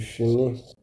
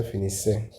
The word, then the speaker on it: finissent: Don't say finissez, pronounce finis. This whole ENT is silent.